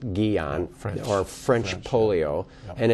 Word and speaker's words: Guillain: There's some, I've heard that the incidence of Guillain-Barré, which is also called, I mean, it's spelled Guillain, it's pronounced Guillain, French polio, and it's a paralysis that ascends, and in most cases, it goes away.